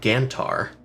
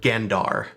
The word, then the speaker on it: Gandar: The species is a gantar. I hope I got that right. Uh, Gandar, sorry, I'll spell it in the chat.